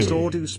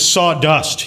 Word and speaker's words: Sawdust: Sawdeuce became a member. Sawdeuce celebrates 19 months of membership. Talk it up, boss. You're the best. Brian, it's Sawdust, you fucking illiterate asshole. Right? Pronounce his name right.